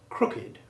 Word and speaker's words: crooked: Although the word crooked has the silent E in the past tense ending, as in the sentence, he crooked his finger, the adjective crooked retains its old sounded ED ending.